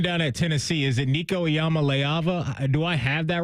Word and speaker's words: Nico Iamaleava: Is it Nico Iamaleava?